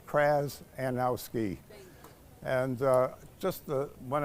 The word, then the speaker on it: Krzanowski: It's Krzanowski, as if there was an A before the Z. Krzanowski.